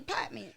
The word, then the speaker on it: Partments: I'm in the Partments.